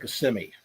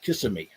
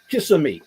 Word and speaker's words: Kissimmee: People where Disney is the town of Kissimmee, and people laugh if you pronounce it Kissimmee. They'll make fun of you.